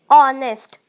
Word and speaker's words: honest: एन ऑनेस्ट, ऑनेस्ट का spelling जो है वो H से स्टार्ट है, लेकिन हम लोग प्रोनाउंस करते वक्त वो ऑनेस्ट, ऑनेस्ट होता है, इसीलिए वो एन ऑनेस्ट हो जाएगा, HONEST।